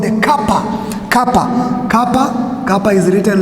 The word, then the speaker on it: kappa: Another one we need to understand is we need to know what is called the kappa. Kappa is written like this. This one is kappa. Kappa, it appears like a K in the English,